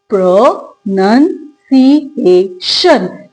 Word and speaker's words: pronunciation: तो इसमें जो प्राइमरी स्लेबल स्ट्रेस रहेगा वो ए पे रहेगा। राइट? और जो सेकेंडरी स्लेबल स्ट्रेस रहेगा वो नन पे रहेगा। मैं आपको बोल के दिखाती हूं। हम कैसे बोलेंगे? प्र नन सी ए शन। तो हम नन आप जिसको गलत बोलते आ रहे हैं आप बोलते हैं नाउन। नाउन नहीं है नन।